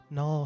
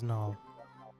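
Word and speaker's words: Nual: refer to me as Null. Is it with a N-A-U-L or is it N-U-A-L? N-U-A-L. Okay. It doesn't matter. It's supposed to be pronounced like null, like nullification.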